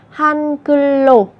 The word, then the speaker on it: 한글로: Và các bạn lưu ý về cách phát âm sẽ là 한글로 nối âm bát chim lên.